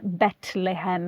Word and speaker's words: Betlehem: Betlehem is another one that is slightly different from the anglicized Bethlehem that we use these days.